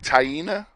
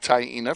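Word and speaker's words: Taina: me fantastic you know tyena I wouldn't have said tyena for t a i n a yeah no I wouldn't have either that's how it's pronounced tyena and I know that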